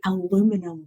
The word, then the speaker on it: aluminium: tariffs on steel and aluminium aluminium I like the way Americans say aluminum yeah this weird word